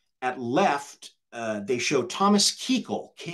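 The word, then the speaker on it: Kuchel: uh show um left uh they show Thomas Keele KU u c h l but pronounced Keele the senior US senator of California in the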